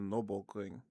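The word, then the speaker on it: Nürburgring: Try pronouncing the Nurburg Ring in German. It's the Noring.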